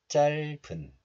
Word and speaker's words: 짧은: This letter is pronounced as 짤 in isolation, but it is followed by a vowel of the next letter. So the hidden 비읍 sound moves to the next letter, and 은 becomes 분. So this is pronounced as 짧은, 짧은.